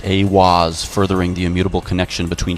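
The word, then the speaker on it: Aiwass: Aleister Crowley meditated inside the Giza octagram and channeled the divinity Awaz, pronounced Awaz, furthering the immutable connection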